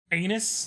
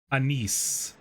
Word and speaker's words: Anise: Anus like Uranus. Highest class humor of 2025. No, it's uh her name is Anise. I'm pretty sure that's how you actually say her name.